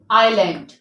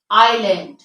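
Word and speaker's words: island: five words over here in which S is silent that is आइलैंड आइलैंड आइल आयल आयल आयल eyelet आयलेट have you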